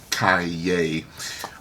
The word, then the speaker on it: Calle: Fun fact, Calle means street in Spanish and is pronounced Calle.